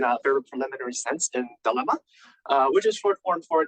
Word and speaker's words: DeLLMa: DeLLMa for a lot of times, but it's pronounced as DeLLMa.